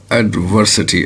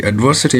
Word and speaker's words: adversity: next word is adversity the stress is on V adversity adversity mean difficulties or trouble